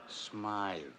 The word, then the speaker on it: Smythe: Hammer, I just got word that Smith Jewelers was held up again. That's Smythe.